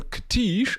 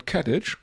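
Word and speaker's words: Katich: And if you don't know why it is Simon Kesh and not Simon Katage, uh which is probably um the usual pronunciation, um go ahead and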